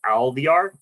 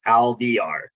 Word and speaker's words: Alvear: last name is pronounced Alvear. So I tell everybody this, the easiest way to pronounce it is just think of caviar, but AL, so Alvear.